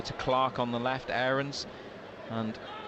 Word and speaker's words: Aarons: the left, Aarons, and it is Aarons rather than Aarons. After about 4 years of calling him Aarons, the club told us that it's Aarons and asked us to pronounce it the way the player himself does.